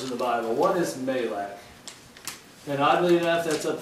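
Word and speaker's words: מלאך: But we would pronounce it in our language Malak.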